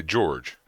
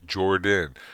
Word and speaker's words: Jordan: you going to do if you say my name wrong and I say oh my name is Jordan oh almost every time I introduce myself to somebody oh hi I'm Jordan they say George every time George no Jordan like oh Jordan I don't get mad